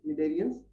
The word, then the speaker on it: cnidarians: So cnidarians, C is silent here, cnidarians, example jellyfish.